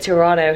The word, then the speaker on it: Toronto: going to go to Toronto they call it Toronto here they don't pronounce the T but we've got to